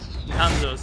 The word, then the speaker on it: Hanzo: Hanzo's, that's how you pronounce it.